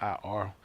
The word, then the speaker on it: Ir: They'll spell it I-R. It's the A, but they'll put I-R. Ir.